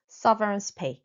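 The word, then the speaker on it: severance: 퇴직금은 영어로 sovereignance pay sovereignance e 이이지만 유인 것처럼 sovereignance 이렇게 발음하면 되겠어요.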